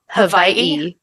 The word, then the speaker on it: Hawaii: I am talking about Hawaii. Or you can say it like how they do on the news stations. Hawaii.